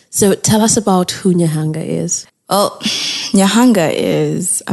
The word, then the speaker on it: Nyahanga: Am I pronouncing it right? Is Nyahanga. It Nyahanga? Yes. Nyahanga.